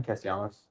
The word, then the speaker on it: Castellanos: Castellanos.